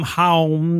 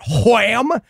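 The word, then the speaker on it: HAWM: H-A-W-M, Haum, that's the High Association for Wizard Magic or whatever the fuck it is. I don't remember. Can I was pronouncing it wham, and can I highly recommend walking around your home just going wham, wham. That's not how that would be, Haum.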